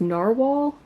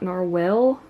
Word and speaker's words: narwhal: happy I think it's it's pronounced narwhal not narell but what I like